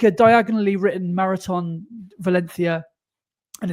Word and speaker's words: Valencia: You can tell you've been researching about Valencia because My soft C. You didn't say Valencia. You said Valencia.